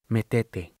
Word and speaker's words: metete: Metete. It had the Argentine pronunciation, with the accent on the middle syllable.